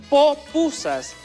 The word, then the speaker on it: pupusa: también ya recordar también el origen de la palabra pupusa en realidad no es la forma etimológica correcta de pronunciar esta palabra en realidad se verían de llamar popusas esto debido al la